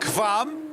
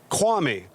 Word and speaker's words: Kvam: Yeah, you said I was right, but you pronounce it Kwame. So us US guys can't say Kvam, so we say Kwame. So that's how it's like W. That's how we pronounce it here in the United States.